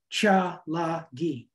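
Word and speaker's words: Tsalagi: ancestral tribe what the Cherokee Indians call themselves pronounce cha lagi and both poems come from the new Anthology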